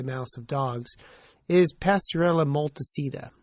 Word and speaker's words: multocida: A common bacteria in the mouth of cats, and to a lesser extent the mouths of dogs, is Pasteurella multocida. Some people pronounce it multocida, and other members of the Pasteurella family.